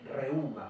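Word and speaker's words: reúma: Y este deriva de reuma, con acento en la U, que significa corriente o flujo.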